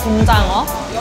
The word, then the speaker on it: gomjangeo: This is ggomjangeo we’re having today, which is supposed to be pronounced as gomjangeo, meaning “inshore hagfish” in Korean.